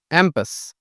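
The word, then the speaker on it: impasse: cul-de-sac synonyms की बात करें तो डेड एंड, एम्पस, आई से स्टार्टिंग है पर ए प्रोनाउंसिएशन होती है इसकी, एम्पस।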